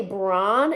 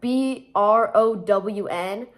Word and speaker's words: brown: talking about oh yeah Brown apparently I say Bron instead of brown instead of the word cuz it's spelled with a b r o w n so like it's supposed to be pronounced Brown